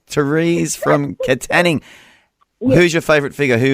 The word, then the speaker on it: Katanning: going to go to Teresa or from wa Katanning I'm sorry how do I pronounce that Theresa is that right K how